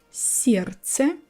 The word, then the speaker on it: сердце: Сердце. I'm skipping d.